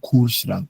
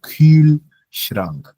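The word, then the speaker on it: Kühlschrank: It's not cool shrank. It's cool because it's there is an umlout. The U have the U has an umlout. Okay. So cool shrank.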